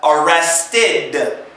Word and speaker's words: arrested: ed at the end of arrest we have arrested arrested yeah we're pretending that the ed is an i.d it's pronounced in okay so it's very very very